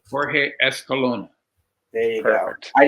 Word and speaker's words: Jorge Escalona: Jorge Escalona. There you Perfect. go. I didn't want to pronounce it and butcher it, so I figured out what to do it.